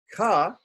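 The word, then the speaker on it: क: So we use this, we add the short A for pronunciation, ka.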